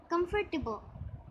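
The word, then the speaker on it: comfortable: हमारा तीसरा अल्फाज है कम्फर्टेबल, कम फर टिबो, कम्फर्टेबल।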